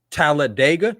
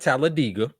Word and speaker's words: Talladega: Now it is Talladega, not Talladega.